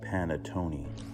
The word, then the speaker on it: panettone: It's pronounced panettone.